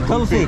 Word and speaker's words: kulfi: Not coffee, kulfi. Kulfi, yeah. Yeah, kulfi, kulfi. That's how you pronounce it.